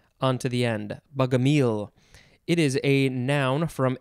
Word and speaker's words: Bogomil: All right, next we have, I think it is pronounced bugamile. Something like that. Capital B-O-G-O-M-I-L, or you could tag an E onto the end. Bugamile.